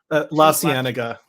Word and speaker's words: La Cienega: La Cienega.